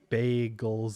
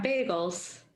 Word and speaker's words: bagels: i didn't know that the canadian pronunciation of bay goals is weird i had to think about how to pronounce it the american way yeah bagels yeah that one okay